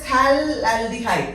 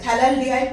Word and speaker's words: phthalaldehyde: This one is called as phthalaldehyde. Phthalaldehyde, pH is silent over here, phthalaldehyde.